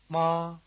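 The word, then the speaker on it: 妈: Ma. Notice that the tone mark in the romanization suggests the level contour at least if not the high pitch.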